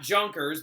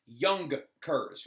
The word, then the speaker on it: Junkers: Not Junkers, because that's how you would say it in English, but in German it's Junkers, right?